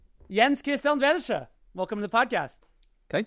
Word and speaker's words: Jens: how do you say in Danish actually I which yeah it sounds awful in any language